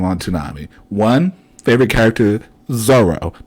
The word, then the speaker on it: Zoro: One favorite character, Zoro, not Zolo. Where's the L? His name is spelled with an R.